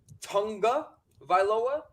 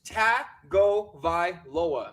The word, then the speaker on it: Tagovailoa: and sportscasters out there who are pronouncing his name Tunga Vailoa, there is no N in his name. His name is Tagovailoa. There is no Tagovailoa. Stop saying Tunga Vailoa.